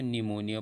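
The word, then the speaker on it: pneumonia: एंड S6 आया पूर्व आया हुआ पी हमेशा साइलेंट रहेगा तो यहां से ए P N-you M ओ एन ई पी मैं इसको निमोनिया पड़े हम पीस आफ लैंड एंड से पूर्व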